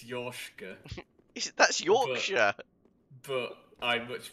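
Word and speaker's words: Yorshka: ted i'm not kidding it's spelt y-o-r-k-s-h-a it's it's yoshika that's yorkshire but i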